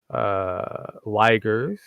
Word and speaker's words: Uyghur: So yes, the Uyghurs Uyghurs, pronounced Uyghurs, Weigers, or a few others, depending on whoever says it at that moment.